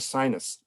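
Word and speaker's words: Synnes: I had a wonderful Skype conversation or Zoom conversation yesterday with Odger Sinus, who is pronounced sinus as in the nose, okay, but it's different spelling.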